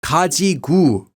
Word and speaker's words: 가지고: 가지고 or 갖고 can also be pronounced as 가지구 or 갖구 in everyday speech.